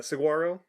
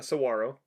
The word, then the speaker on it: saguaro: when i'm talking and i just pronounce all the letters um uh saguaro um should be uh saguaro and which is what i